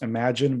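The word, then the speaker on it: Imagen: i guess rival company known as imogen or i think it's i think it's pronounced imagine but it's like image and right yeah and i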